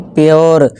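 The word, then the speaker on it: pure: जैसे देखिए इसे पूरे नहीं, प्योर, श्योर, क्योर।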